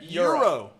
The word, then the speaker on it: gyro: Euro. Well, so, how do you say it? Euro. Like the, Euro? like the currency.